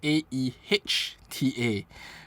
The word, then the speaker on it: Aehta: the AA and uh it's pronounced as AE H ta so uh AA here